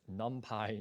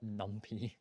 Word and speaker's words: NumPy: while second the start library is numpy it's pronounced numpy not numpy who calls a library numpy the referencing is